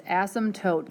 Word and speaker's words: asymptotes: of funny but it's asymptotes the P is silent so again we would